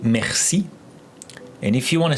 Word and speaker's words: merci: So it really sound like, I will spell it like the beginning of your name, Marcy. Merci. So I feel like every time I say your name, I feel like I'm saying thank you.